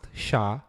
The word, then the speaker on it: SHA: 256 sh stands for secure hash algorithm is pronounced sha and is in fact a family of more